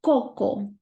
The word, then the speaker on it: coco: Coco, coco. It's not so, it's coco, because the O is a strong vowel.